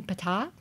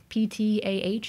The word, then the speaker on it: Ptah: Maybe you mean Ptah. Ptah is usually how we write it in English. In Egyptian, it's just Pth. Or dotted H specifically.